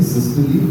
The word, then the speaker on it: systole: One point, I mean, just because this patient had syncope, the correct pronunciation is syncope, systole, diastole. All three you got wrong.